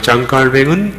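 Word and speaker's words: Jean Calvin: 우리가 요한 칼빈이라고 부르는 것은 프랑스 발음으로는 장 칼뱅입니다. 이 프랑스 신학자 장 칼뱅은 1509년부터 해서 1564년까지 삶을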